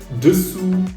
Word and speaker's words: dessous: And that's why I dug deeper and found out that I mispronounced the U letter for a very long time.